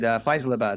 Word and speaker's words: Faisalabad: And luckily the director cut to Nisha and she said, Faisalabad.